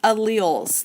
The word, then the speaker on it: allele: know that's kind of a weird new word alleles that's how you say it so your cells